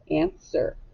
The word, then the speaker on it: answer: Now, do we say answer or answer? Yeah, the W is silent.